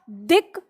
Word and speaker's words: दिक: शब्द है हमारा दिक प्लस विजय। देखो यहां पर अंतिम वर्ण क्या है? क्या है अंतिम वर्ण? क। ठीक है, कै नहीं है, ध्यान, क ही है। अब उच्चारण कै नहीं करना, कै बोलेंगे तो ये